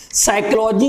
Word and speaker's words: psychology: साइकोलॉजी को लिखा तो जाता है पी से, लेकिन बेटा इसका जो उच्चारण है वो स्टार्ट कहां से होता है, एस से होता है।